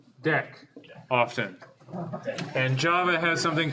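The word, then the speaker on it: deque: double it ended queue that gets shortened to d x which is pronounced deck often and java has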